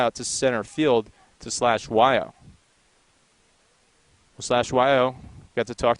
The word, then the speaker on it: Hlatshwayo: Well, /Weil, got to talk to him before the game, and if you look at how you spell his name, you would never in a million years guess that you pronounce it /Weil.